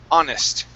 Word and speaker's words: honest: Okay, the H in honest is silent. Honest.